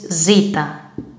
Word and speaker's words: zeta: Look at the lowercase and the pronunciation is zeta. Zeta. But in the word it sounds like z.